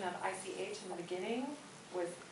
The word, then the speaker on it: ich: um your pronunciation of ich in the beginning with ish which I was well schooled that it is the Viennese pronunciation which doesn't make it wrong it's just a different